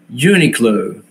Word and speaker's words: Uniqlo: Como diría este señor que va a comprar ahí a Uniqlo, no, me dice, me hasta me mandó Ceci, la pronunciación es Uniqlo, Uniqlo, así se pronuncia, ¿no?